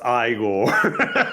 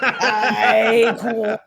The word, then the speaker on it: Ichor: Uh, it's pronounced igore. Iore. Emphasis on the back end.